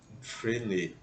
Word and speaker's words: Freinet: Então, por exemplo, esse nome Frenet, né? A gente escreve Freinet, só que não se pronuncia esse I, né? Porque há uma contração do E com I fica E. Frenet.